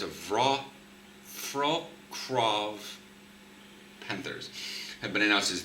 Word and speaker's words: Wrocław: I don't know how to pronounce that because the L has a through it, and that's usually pronounced as a W sound. So it's a Wrocław Panthers.